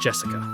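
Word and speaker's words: 朱志香: kind of weird name you see that set of Kani is pronounced Jessica she's dad's older brother's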